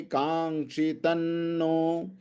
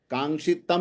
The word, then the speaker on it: कांक्षितन्नो: श्लोक नंबर 33, येषामर्थे कांक्षितन्नो, कांक्षितम नहीं आएगा, इसमें भी न का उच्चारण होगा, क्योंकि इसके बाद में जो शब्द आया है वो भी न है ना।